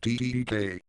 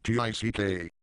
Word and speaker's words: TDK: msnbc snake either way this logo is pronounced tdk not tick are you spelling out